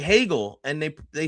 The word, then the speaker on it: Hegel: Hegel. Like, it's not that hard. It's five letters. It sounds like bagel. It's spelled like bagel with an H.